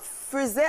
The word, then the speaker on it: faisait: Donc c'est faisait à la prononciation, mais cela s'écrit F-A-I-S-A-I-T pour le singulier et puis pour le pluriel, on va l'accorder.